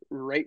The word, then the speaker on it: right: And you say rate wicked, so RIGHT, but you pronounce it like rate wicked.